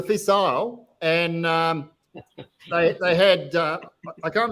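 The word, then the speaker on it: Fèis Ìle: How do you pronounce it, Bill? Is it the Fishar or Fisile? So it was a Fisile, and they had I can't remember if Jim McKeown was there at the time.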